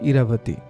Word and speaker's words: ইরাবতী: সেখানেও রানীর নাম ছিল ইরাবতী ইরা বলে এই প্রথম বুঝি আপনি আমার নাম সঠিকভাবে উচ্চারণ করলেন। এছাড়া তো একেকজন একেক রকম ভাবে বলে। কেউ আয়রা, কেউ ইরা ভুতি ঠিক নেই প্রীতম একটু